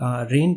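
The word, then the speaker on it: reign: The Kings range, यहाँ पे ये जो जी होता है ये साइलेंट होता है, तो इसको हम सिंपल रेन पढ़ेंगे, ठीक है।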